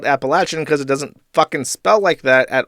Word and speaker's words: Appalachian: me a curse also Appalachian should pronounce with a latch and not a le as someone from there okay fine appalachin I will adjust my